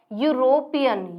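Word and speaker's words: European: और यहाँ पर ये साउंड किसकी दे रहा है, यूरोपियन, या किसकी साउंड आ रही है, या की, यूरोपियन, हमें ई इसमें साउंड साइलेंट मिला हुआ है, यूरोपियन, तो साउंड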